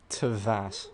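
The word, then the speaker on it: Teyvat: Would you be interested in checking out the Devat travel guide? Tevat. Right, okay. Finally heard it pronounced.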